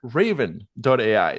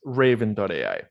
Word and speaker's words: Ravin: Elon xain CEO at raven. that's spelled with an i what pronounced raven like the bird uh so so thank